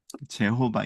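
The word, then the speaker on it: Jehovah: 자음이 없고 그래서 이걸 어떻게 발음하냐라고 해서 여기에다가 그 주님이라고 하는 단어가 아도나이인데 아도나이 여기가 다 모음이 있잖아요. 아도 모음이고 노에도 오음이 있고 그걸 붙인 거예요. 여기다가이 단어에다 yhw에다가 그래서 여호와가 돼요. 제호바 이렇게 부르는데 이걸 학자들이 만들어 냈어요. 이렇게 발음했을 거야. 이해되시죠? 그리고 지금은 그냥 이거를 그대로 그냥 부르는게 더 맞지. 왜냐면 모음을 의도적으로 인위적으로 넣지 말고 그냥 그대로 부르자. 이래서 야회 이렇게 부르는 거예요.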